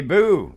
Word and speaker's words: Bue: off the bat and her name is boo and I said it right I said it